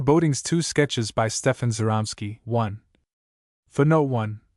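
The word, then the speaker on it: Żeromski: Two sketches by Stefan Zeramsky. One for no one. The accent on the Z softens the sound approximately to that of the French G in Gelli.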